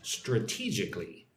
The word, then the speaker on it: strategically: So look at the word strategically. Strategically. 4 syllables. Strategically. Right?